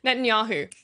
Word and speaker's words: Netanyahu: 2009 Benjamin n dude I've heard this name pronounced so many times and I still do it wrong Netanyahu there we go selected prime minister uh brief